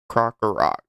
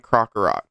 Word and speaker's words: Krokorok: Machop, Gibble, Drillbur, Sandile, and how do you pronounce it? Krokorok. And Krokorok.